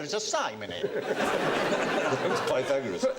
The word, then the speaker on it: Pythagoras: ASK YOUR MATHEMATICS TEACHER is must do the Peter Gorus." And I said, "Are we going to do Peter Gorus?" You go, "Shut up." So Peter years later, I discovered he meant Pythagoras.